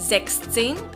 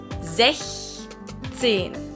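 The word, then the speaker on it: sechzehn: But when you add 10 after, the CH sound becomes soft again. So it's not 16, it's 16. 16.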